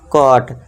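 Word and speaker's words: caught: साथ ही साथ अगर जी एच है तो जी एच को आपको क्या रखना है दोस्तों? आपको साइलेंट रखना है। तो इसे क्या पढ़ेंगे? कॉट।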